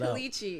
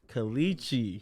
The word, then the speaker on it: Klechi: Like just say that Klechi. out. Klechi. That's how you pronounce it.